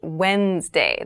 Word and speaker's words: Wednesday: So Wednesday is the middle day of the week, but keep in mind this is pronounced Wednesday. There's a D there, but we don't say Wednesday. We say Wednesday.